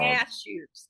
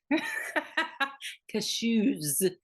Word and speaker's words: cashew: to say it wrong cashew cashew cashew cashew not Caso yeah those are vile